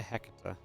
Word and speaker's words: Hecate: I say Hecate. Hecate. Hecate? Yeah. Like a name like Hegatha? I guess. Yeah, I guess so. Hecate with the different sound letters. Hecate.